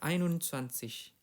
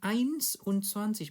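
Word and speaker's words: einundzwanzig: Ain unans biasanya orang bacanya kayak di agak diseret jadi ainun sansish. Ainun sansish gitu ya. Ain unansis. Ain ainun sansish. Ainun sansish. Dan di sini perlu diperhatikan juga ainnya bukan ains un sansish bukan ya.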